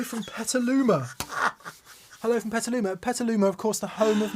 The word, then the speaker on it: Petaluma: he says hello from petaluma hello from petaluma petaluma of course the home of mesa boogie oh